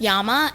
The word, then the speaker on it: llama: the Y in yard in English the Double L at the beginning of a word llama is pronounced just as if it were a single l in other words English